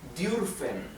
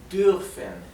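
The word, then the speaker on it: dürfen: Sin embargo, la u con um se pronuncia entre una i y una u. Es un somnido entre medio de los dos, de una i y una u. U. U. Esto sería durfen.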